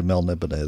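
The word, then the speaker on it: Melniboné: It looks like Melnibone. Melnibone. You're supposed Melnibone. To say, supposed to say Melnibone. There's an accent on the final E.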